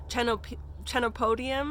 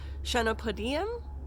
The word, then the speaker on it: Chenopodium: So some people call it Chenopodium and some people call it Chenopodium.